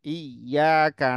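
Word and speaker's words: إِيَّاكَ: Gak boleh ya eh iyaka na'budu wa iyyaka nast harus ditekan iya tidak boleh iyaka iyaka Enggak boleh iyaka na'budu wa iyaka nastain itu salah gitu ya apabila dia dengan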